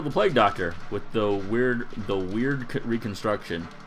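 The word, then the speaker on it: wyrd: I'm gonna try to heal the Plague Doctor with the weird reconstruction. I think it's pronounced weird, right?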